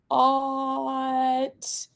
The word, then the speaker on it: taught: Taught. I know that GH a lot of times is silent, so taught. That looks right and sounds right.